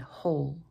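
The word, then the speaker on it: whole: again there's an exception sometimes the WH will make just an H sound with the W being silent as in the words who and hole the wa sound can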